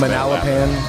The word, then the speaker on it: Manalapan: I always used to say Manalapan. Manalapan. Manalapan. Manalapan. I think I used to say Manalapan. But it's Manalapan.